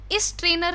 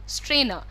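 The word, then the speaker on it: strainer: तो बहुत सारे लोग इसी शब्द को बोलते हैं स्ट्रेनर, इस ट्रेनर नहीं होता है, दैट्स अ स्ट्रेनर, स से शुरू करना है आपको, ई से नहीं, इट्स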